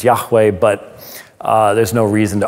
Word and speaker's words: Yahweh: jesus is identified as jehovah now the proper pronunciation is yahweh but there's no reason